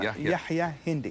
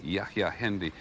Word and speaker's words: Yahya Hindi: First of all, I just want to make sure, am I pronouncing Yahya Hindi correctly? Well, that's close enough. Well, say it accurately. Yahya, Imam Yahya Hindi. Yahya Hindi.